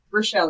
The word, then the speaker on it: Rochelle: Right, Rochelle, that's how you pronounce it, yes? Rochelle, you bet.